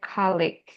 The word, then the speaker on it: colleague: Ini untuk yang kampus, terus untuk yang rekan kerja tuh kita bisa lafalkan sebagai colleague. Jadi yang disampaikan sama Kak Dewi barusan tuh kayak antara pronunciation perpaduannya rekan kerja sama untuk yang kampus. Jadi kalau untuk yang disampaikan barusan Kak, harusnya kan tuh kan kita mengatakan sebagai colleagues gitu ya, pakai G di belakang tuh.